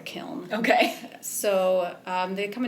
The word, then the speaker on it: kiln: yep term okay well there's different ways that people pronounce it but i've always learned it was a kiln okay so um they